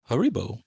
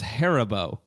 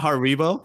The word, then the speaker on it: Haribo: just saying that wrong I thought it was harabo harabo Haribo how do you pronounce this it's not Haribo it's Haribo oh Haribo Haribo Haribo harot what har yeah that's his that's exactly how you say it's German so how would you how